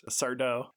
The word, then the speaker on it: Sardo: We love and to a lesser extent Sardo. No, mister accent on the dough.